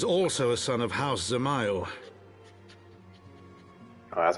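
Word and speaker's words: Dzemael: nonetheless alas is also a son of house zamayo oh that's how they pronounce it i call it desmal how quickly we forget the petty nature of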